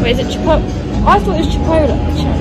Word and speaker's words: Chipotle: And now Chipotle. Wait, is it Chipotle?